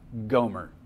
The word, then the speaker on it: Gomer: wife and now her name means completed it's pronounced Goomer what comes to mind when you hear the name Gomer say her name's Gomer and she is a